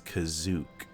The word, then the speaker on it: Kashyyyk: And before I get into WoW stuff, I had no idea that in the Star Wars Holiday Special, they pronounced Kashyyyk as Kazook.